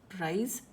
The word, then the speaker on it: prize: Get your pronunciation correct. Price, CE, prize, ZE.